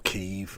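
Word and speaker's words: Kyiv: into Kiev tomorrow or keev I think is how we're supposed to pronounce it um everyone in the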